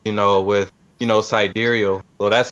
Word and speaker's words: sidereal: pronounced i know you've we've been saying sight real throughout the whole you know station but sidereal is uh more accurate i've heard because it deals with the stars that's right above your head and with the tropical